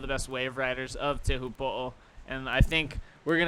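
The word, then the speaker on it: Teahupo'o: That's everybody knows the nickname of the actual wave, but the correct pronunciation is? Te Hupo'o.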